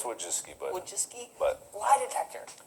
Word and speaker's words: Wojcicki: Yeah, Susan Wojcinski? close enough. Is that how you pronounce I it? think it's Wojcicki, but Wojcicki?